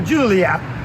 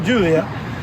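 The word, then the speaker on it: Giulia: And today I'm going to be able to take this beautiful 2021 Alfa Romeo Gulia, is how they pronounce it if you ask Google, Gulia, TI Lusso, for a test drive overnight.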